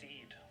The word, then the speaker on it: Eid: Ramadan with this holiday fittingly it rhymes with feed Matthew what is Eid good for two thousand a holiday 1600.